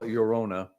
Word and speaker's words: Llorona: Allegedly, Nashville-based hardcore troupe, it's spelled Llorona, I'm going to call it Llorona.